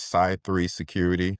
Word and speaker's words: Cy3 Security: It is Cy 3 Security. So that's spelled CY and then the number 3 security, Cy being short for cyber. And then, of course, us security geeks, 3 being the security triad.